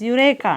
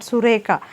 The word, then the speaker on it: Eureka: I got it Eureka it is Eureka not sureka okay Eureka immediately after